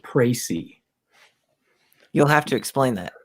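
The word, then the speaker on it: précis: now I hear you okay I'm told it's pronounced pricey you'll have to explain that write a pricey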